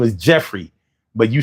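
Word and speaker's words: Geoffrey: He was like, "Goffrey bean? The gray flannel cologne. It smell good." And I was like, "That say Jeffrey."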